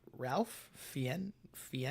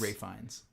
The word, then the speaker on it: Ralph Fiennes: with Ralph Fiennes? It's Ray Fiennes.